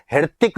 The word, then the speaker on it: हृतिक: यदि आप उसकी स्पेलिंग ध्यान से देखेंगे तो एच से शुरू होती है। हृतिक रोशन है को साइलेंट कर रखा है और ऋतिक रोशन बोला जाता है।